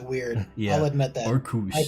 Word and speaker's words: Arceus: Arceus. I pronounce it Arceus.